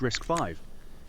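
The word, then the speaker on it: RISC-V: How do you spell that? Risk RiskV. Yeah, it's Alias Risk 5.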